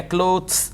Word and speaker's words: clothes: been we tried then you mispronounced the word clothes you said something else closed their clothes were torn yeah clothes it should be clothes exactly and then you